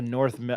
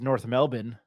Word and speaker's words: North Melbourne: me to by a North mil and then the girl from kvia Rachel Phillips was like you guys said it wrong uh um it's North Melbourne they're the North Melbourne kangaroos which I you know